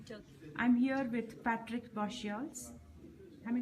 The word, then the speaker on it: Bosteels: I'm here with Patrick Bosteels. Am I pronouncing your name right? Bosteels. Bosteels.